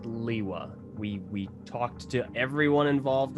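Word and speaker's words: Lewa: It's pronounced Liwa.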